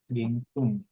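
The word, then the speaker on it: 現金: Dan simir menggarai Yoyaku memesan piano piano meter zenang tunai gengking oh ging i gengking ini bacanya gengking nah uang tunai gengking Heeh.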